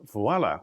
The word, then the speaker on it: Vuala: Abiel Ma, the innovation we're featuring today is your startup company called Vuala, which I believe comes from the French voila. It's spelled V-U-A-L-A.